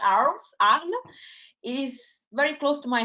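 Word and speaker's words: Arles: one of the hardest cities for you to pronounce theater so this is mute not arms arle is very close to my heart it is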